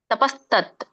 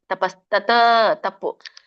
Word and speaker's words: ತಪಸ್ತತ್: ಉಚ್ಚರಣೆ ಶ್ರದ್ಧಯ ಪರಯ ತಪ್ತಂ ತಪಸ್ತತ್ ತಪಸ್ತತ್ ಬಿಡಿಸಿದಾಗ ತಪಹ ತತ್ ಅಂತ ಆಗುತ್ತೆ ಕೂಡಿ ಹೇಳಿ ತಪಸ್ತತ್ ವ್ಯಂಜನ ಇದೆ ತಪಸ್ತ ತಪ್ಪು ತಪಸ್ತತ್ ಸರಿ ತ್ರಿವಿದಂ ದೊಡ್ಡದ ಇದೆ ತ್ರಿವಿದಂ